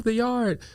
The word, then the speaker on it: Theyard: So it's Theyard, but like most people read it and they're like, oh, The-Yard. And I'm like, oh no, it's Theyard.